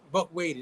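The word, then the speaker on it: Waite: Buck Wady.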